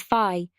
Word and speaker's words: Fi: The other main criticism often voiced about this game is your companion Fi, who in Japanese is pronounced as Fi.